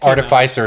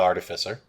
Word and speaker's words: artificer: modern horizons when that car defy sir is definitely how you would say that word yeah not artificer it's a made-up word